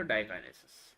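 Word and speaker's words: diakinesis: Pachytene, ज़ाइगोटीन, leptotene, diplotene, और इसका थोड़ा प्रोनाउंसिएशन अलग है तो डाइकाइनेसिस.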